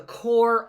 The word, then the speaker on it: Corps: Jefferson and Lewis agreed that the expedition would be called the Corps of Discovery. The P here is silent, right?